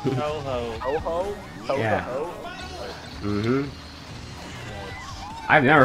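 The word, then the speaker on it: Touhou: I don't know how it's pronounced. Tau Hau? It's Tau Hau. Tau Hau? Yeah. I've never heard anybody pronounce it as Tau Hau. I've heard people say Tuhu.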